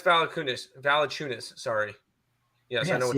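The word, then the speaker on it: Valančiūnas: You butchered Jonas's last name. Jonas Valanciunas. Sorry. Yes, I know what you mean. I'm sorry. It sounds like you said five figures. Valanciunas.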